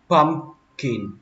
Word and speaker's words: pumpkin: Chính xác thì nó phải có chữ P nữa. Pumpkin. Nhưng mà khi mình nói nhanh thì mình không cần chữ P luôn. Pumpkin. Các bạn xuống giọng ở chữ kin.